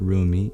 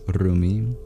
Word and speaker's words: Rumi: In Arabic, you don't pronounce the R the same way in English, so it's not Rumi, it is Rumi.